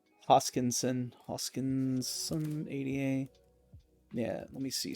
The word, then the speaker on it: Hoskinson: Hoskinson, 88.